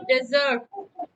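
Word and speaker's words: dessert: यहाँ पर आप देखिएगा, इसको बोलते हैं डेजर्ट। डेजर्ट, डेजर्ट ये होता है रेगिस्तान। और एक दो खाने के बाद आप स्वीट डिश खाते हैं, उसकी स्पेलिंग यही होती है, पर उसका प्रोनाउंसिएशन होता है डेजर्ट।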